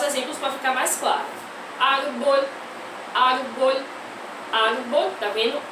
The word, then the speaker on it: árbol: Ar é a sílaba mais forte e é paroxítona ou grave. E termina com L, termina em consoante, e essa consoante não é N e nem é S, então a gente acentua, tá certo?